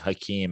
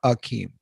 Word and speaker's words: Hakeem: Yeah, they love to make a thing about it, but I'm just saying, I remember Hakeem Olajuwon scoring like 60 points in a fucking playoff game and being like, hungry.